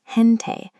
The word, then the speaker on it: gente: The first word is gente.